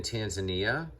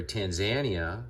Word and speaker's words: Tanzania: gabi is located in tanzania or tanzania it's been pronounced by tanzanians that i met um and i